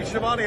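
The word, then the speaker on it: Schiavone: Hey everybody, it's Tony Siobhani of All Elite Wrestling, and this is True Heel Heat.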